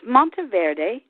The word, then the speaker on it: Monteverdi: It's Mont Verde. It's Italian and in Italian it means mountain green.